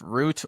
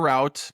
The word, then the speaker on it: Route: Uh English language permits the pronunciation of root or route. Both are correct.